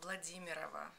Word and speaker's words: Vladimira: say your last name um Russian last name vladimira but you don't have